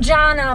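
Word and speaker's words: Canan: teacher yeah our belly her name is pronounced jana but it's spelled c-a-n-a-n jannan yeah yes okay oh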